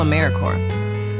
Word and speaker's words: AmeriCorps: make that same mistake Americorps is alive and well just spelled with a silent P so think of Apple core or core of the Earth now that we have